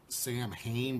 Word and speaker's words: Samhain: Looks like it's spelled Sam Hain, but it's pronounced like Samhain or Samhain.